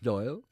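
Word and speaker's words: Dáil: the Dublin Parliament is called the doy pronounced doy an Irish word meaning a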